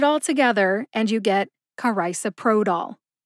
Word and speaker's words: carisoprodol: that's I like eyeglasses the third syllable is so like you sew on a button the fourth syllable is pro like a pro football player and the fifth and final syllable is doll like dollar put it all together